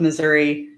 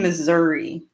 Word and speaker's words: Missouri: also like I'm in Missouri Missouri there's people that are like it's Missouri no it's not it is not Missouri we make it actually